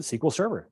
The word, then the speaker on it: SQL Server: If you talk to anyone at Microsoft, how do they pronounce it? They pronounce it SQL Server. That's just the way it is, even though that's not the way it's spelled. Okay.